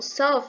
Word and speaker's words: South: O South, gente, ele tem a pronunciazinha, o finalzinho de F. Tipo um F, bem fraquinho. South Korea.